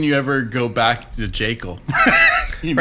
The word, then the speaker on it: Jekyll: Which apparently is pronounced Jekyll, actually, because... Yeah, the Harlan original Ellison- pronunciation was Dr. Jekyll, but if you say Dr. Jekyll, you just sound like a pompous, pretentious dork.